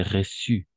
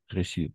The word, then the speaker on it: reçu: ah ici alors attention c'est reçu reçu c'est la CCD on va on va prononcer comme C c'est la C c'est d'accord C c'est un S de C donc reçu contrairement à une idée